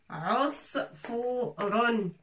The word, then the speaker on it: عصفور: Sad avec soukoun, ça se prononce S. Fa avec waou. Fou. Ron. Osfouron.